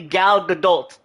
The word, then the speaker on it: Gal Gadot: I don't know where you heard her name pronounced, but it's definitely Gal Gadot. Like the T is there. It is very much there.